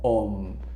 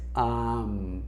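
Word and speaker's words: aum: Este amuncia a la hora de la práctica meditativa como om, sino que es am.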